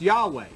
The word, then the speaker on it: Yahweh: And so this then through through tradition this YHWH started to be pronounced Yahweh and that's how the word Yahweh came.